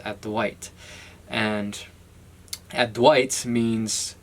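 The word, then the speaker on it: Advaita: this is called add to add white or add a vitae as like Westerners would call it advice of an incense could it's pronounced at the white and at Dwight's means not to or non-dual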